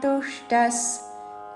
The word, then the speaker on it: తుష్ట: ఆత్మన్యే వాత్మనా ఆత్మన్యే వాత్మనా తుష్టస్ తుష్ట మూర్ధన్ష కి అల్పప్రాణ ట వత్తు తుష్ట అని మహాప్రాణ అక్షరము పలకకూడదు తుష్టస్ విసర్గ ఉచ్చారణ స